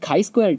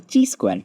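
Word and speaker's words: chi-square: next thing is the kai Square test or also called as the T Square test uh you know you can pronounce it both ways so what we do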